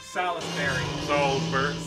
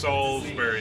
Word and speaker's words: Salisbury: You gotta say it like the people around here, though. Salisbury. No, it's just Salisbury. There is no I in it. S-A-L-Z. Yeah, Salisbury. B-E-R-Y, not her.